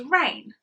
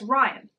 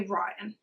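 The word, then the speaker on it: Raihn: i h n okay a lot of people would pronounce that as rain I pronounce it as Ryan because in my brain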